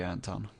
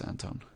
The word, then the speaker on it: Anton: Yeah, if you lived in Sweden, it would totally be Anton. But you don't, so it's Anton.